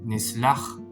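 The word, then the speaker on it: נסלח: Y aquí la pronunciación de esta palabra es nislach, que significa nosotros perdonaremos.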